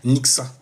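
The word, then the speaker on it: Nyxa: Nixxa. Mais c'est c'est N Y X A, donc euh forcément ça se lit comme ça, ça se prononce comme ça aussi, !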